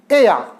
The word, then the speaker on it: ella: उसके बाद है एया, ई डबल एल ए, एया। इसको ऐसे प्रोनाउंस करेंगे। ई को प्रोनाउंस करेंगे ए, डबल एल ए को प्रोनाउंस करेंगे या, तो ये बना एया।